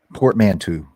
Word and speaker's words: portmanteau: it's like a Portmanteau. portmanteau. Thank you. Portmanteau. Thank you for pronouncing it correctly.